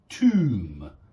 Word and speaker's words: tomb: don't pronounce the b tomb you don't pronounce the b or womb yeah something